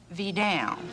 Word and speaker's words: Vidal: I don't want to even think that you Well, pardon me, would I stop mispronouncing your name? Well, how do you say it? Vidal.